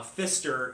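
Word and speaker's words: Pfister: places up online uh Fister is actually spelled with a silent p on the front so it's p f i s t e r hotel and it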